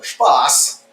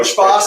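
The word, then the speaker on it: Spaß: So Spass, that's the German Esset character. So it's actually a lowercase character. It's like a funny B. We've all seen it somewhere, but impossible to pronounce. People pronounce it 15 different things, but that Spass is the German word for fun.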